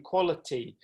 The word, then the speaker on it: quality: stressed syllable another student had a problem with the word quality in fact i thought she'd said quarantine and so we worked on the qua sound in quality and again i was